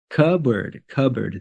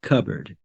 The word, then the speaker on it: cupboard: Cupboard. The P is silent in this word. Cupboard.